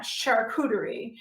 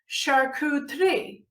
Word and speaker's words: charcuterie: say charcuterie it's not charcuterie it's sharku 3 so if you say it correctly there's only three syllables not four and on google they